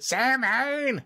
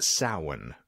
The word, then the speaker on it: Samhain: I mean, technically, but it's pronounced Samhain for the good folks that are actually Irish.